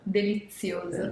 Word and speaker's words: delizioso: How do you say it in Italian? Delizioso.